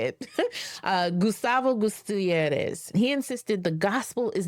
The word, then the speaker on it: Gutierrez: That's why the liberation theologian, that's how you say it, Gustavo Gutierrez, he insisted the gospel is not merely a